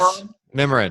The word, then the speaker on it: Mimiran: Did I pronounce that right? Yes, Mimiran? Mimiran.